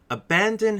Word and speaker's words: abandon: term is the word abandoned okay let's get started guys first let's start with the pronunciation for this word abandon has three syllables the first syllable is unstressed the second is stressed in the third is